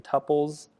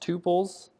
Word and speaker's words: tuple: Um, before I was saying tpples, it is pronounced tupils.